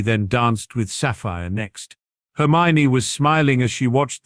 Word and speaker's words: Hermione: Actually, it's pronounced Hermione.